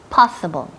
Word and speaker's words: possible: Possible. Possible. Énfasis en la primera sílaba.